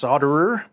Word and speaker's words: solder: sort of an experienced solderer and I'm in the U.S we just call it solder the L is silent I know in other